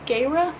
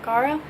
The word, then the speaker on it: Gaara: had a friend and she said that it's pronounced Gera not Gaara I didn't like that so actually it's not